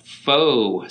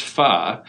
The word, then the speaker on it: pho: i kind of like what is that faux stuff and they realize it's pronounced pho and then i finally